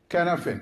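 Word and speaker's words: Cynefin: Please pronounce that to everyone. Canafin.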